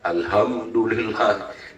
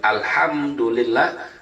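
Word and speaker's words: الحمد لله: Seperti ya, ha-nya kan kecil tuh. Dibacanya besar. Ya, alhamdulillah. Ya, ini namanya mengganti huruf. Aturannya alhamdulillah, alhamdulillah dibaca ha-nya besar.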